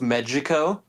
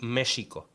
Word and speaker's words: Mexico: been at first, because the X in Mexico comes from the Nahuatl, which more or less would sound like Mexico.